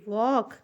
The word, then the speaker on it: walk: लिखा है वॉक slowly, WALK, वॉक, ठीक है, वॉक। यहाँ पे यल भी साइलेंट है, ठीक है, यल साइलेंट है, SLOWLY, स्लोली, वॉक स्लोली।